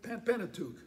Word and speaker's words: Pentateuch: and it's also then the tech how you pronounce that mark the uh the the pentateuch the pentateuch pentateuch moses had written and those